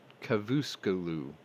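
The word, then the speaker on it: Çavuşoğlu: This came from the foreign minister Mevlut Cavusoglu. No, sorry. I didn't say that right. It's okay. It's Cavusoglu.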